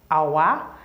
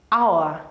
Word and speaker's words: hour: for instance you have hour hour when you pronounce the word hour you're going to see that the H there is silent so we use an